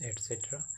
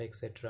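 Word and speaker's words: et cetera: ETC means एटसेट्रा, एटसेट्रा का spelling क्या होता है, ETCETERA, एटसेट्रा, नॉट एक्सेट्रा, okay.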